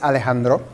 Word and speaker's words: Alejandro: My name is Alejandro. That's how you pronounce it.